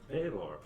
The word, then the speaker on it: Balor: Baylor. Balor. Baylor.